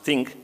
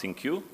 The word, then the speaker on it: ThinQ: okay and the thi and Q pronounced think not think U is trying to move